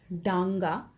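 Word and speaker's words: ডাঙা: this is ga so you are supposed to pronounce it as danga when it is written in this way and this is just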